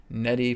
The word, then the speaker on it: neti: into neti pots okay it's spelled n-e-t-i okay nettie pots we want to make